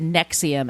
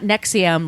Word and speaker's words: NXIVM: prayed on them later they changed the name to Nexium and it's spelled NX I VM all capitals it's not nexum like the heart medicine the heart you the